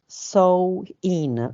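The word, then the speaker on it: Samhain: the ancient Celtic Festival of uh some ruin somewin pronounced so in okay the Celts who lived 2000 years ago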